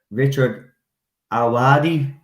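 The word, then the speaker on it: Richard Ayoade: he said the name wrong. It's Richard Awadi.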